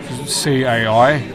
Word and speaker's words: cai: But the word for food in Chinese is cai. C-A-I, but it's pronounced cai.